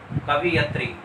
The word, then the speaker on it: कवयित्री: और नंबर चार देखिए, कवियत्री, ये बिल्कुल गलत है, शुद्ध होगा कवयित्री।